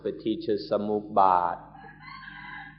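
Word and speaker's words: Paṭicca Samuppāda: or sukha and dukkha, then we call it Paticca Samuppada, although in Thai it's pronounced Paticca Samuppada.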